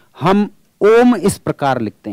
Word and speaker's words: ॐ: हम इसको बोलते ओम लेकिन जब इसके साथ में यह चिन्ह बना हुआ है तो यह अपने आप में पहचान है कि यह स्वर दीर्घ नहीं है यह पुत है और इसके उच्चारण में तीन मात्रा के बराबर समय लगाना है और इसीलिए आपने देखा होगा कि जब भी हम ॐ शब्द का उच्चारण करते हैं तो इसको बहुत लंबा बोलते हैं वह ओम इस